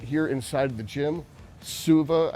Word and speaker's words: Suva: That there is this physical therapist right here inside the gym, Suva, I think is how you pronounce it.